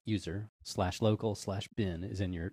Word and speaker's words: usr: it says make sure that SL USR which I'll pronounce user looc bin is in